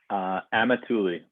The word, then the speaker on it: Amatulli: Amatulli. Amatulli. Yep. Just the way it's spelled.